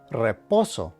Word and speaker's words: reposo: beginning of a word, you should give it a slight trill or roll the R as they say. For example, this word is pronounced reposo, which means rest.